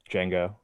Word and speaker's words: Django: pronounce his father's name django django the as in django unchained django um you're dead to me by the way but it is respect let's do star wars for 15.